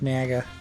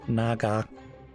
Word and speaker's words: Naga: fine it's the spirit nager I should say Naga how it's pronounced Naga that's definitely one of